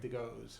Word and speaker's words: DeGois: Plinio DeGois. Huh. All right, it looks like DeGois, but it's Yeah, DeGois.